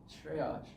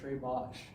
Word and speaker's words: Shreyash: I didn't say it right? No, Shreyash. You said Shreyash.